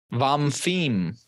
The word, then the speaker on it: Vamfim: Vamfim. Can you spell it for us? VAMFIM. Vamfim. Vamfim. Vamfim, maybe. Vamfim. It depends on what part of the word they put stress on.